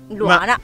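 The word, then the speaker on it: Luhana: Beh, è particolare perché ci hanno messo la H di mezzo e quindi L-U-H-A-N-A. Luana.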